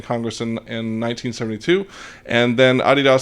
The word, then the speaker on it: Adidas: Okay, next up, our friends at Adidas, or properly pronounced Adidas, announces a new network that will allow more than 50,000 student athletes to be paid ambassadors.